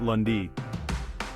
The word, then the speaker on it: lundi: day is Monday or lundi in French we pronounce it lundi chapter 14 next up is the second day